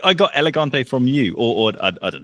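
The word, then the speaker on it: Élégante: So I've asked people at the Burn Boutique because they say elegant, and I was saying elegante because I hang out with British people all the time because I live here. But they say elegant, so I adopted that.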